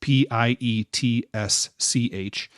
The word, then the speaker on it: Pietsch: I'm hoping I'm pronouncing Carrie's last name correctly. It's Pietsch.